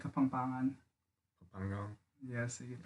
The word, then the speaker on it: Kapampangan: like Kapampangan.